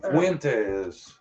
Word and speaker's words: Fuentes: Her name is Jolissa, and her last name is, how do you pronounce her last name? Fernandez? Fuentes.